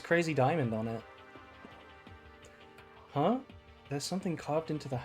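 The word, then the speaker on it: ダイヤモンド: In Japanese, diamond is pronounced diamondo.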